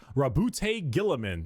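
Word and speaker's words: Roboute Guilliman: Primark Rabboute Gillamin.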